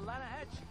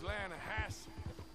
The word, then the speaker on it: Lanahatchee: The Lanahatchee. It runs right near here. Yeah, but it's pronounced Lanahassee.